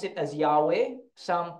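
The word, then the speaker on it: Yahweh: we pronounce it as yahwe some pronounce it Jehova okay but the more correct is yahwe kasi walang J sa Hebrew Okay so yahwe Okay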